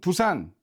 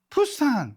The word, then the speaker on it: 부산: 팝송 발음으로 치면 우리나라 사람은 부산, 그죠? 근데 외국 사람한테 부산 절대 발음 못하죠. 푸산 하면서 호흡을 섞는단 말이에요.